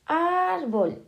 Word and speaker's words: árbol: Vale, ahora tenemos árbol en la penúltima sílaba, entonces es llana.